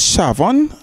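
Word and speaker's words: Shaphan: did and by which josiah asks shah says shavon is the proper pronunciation to go to the priests to disperse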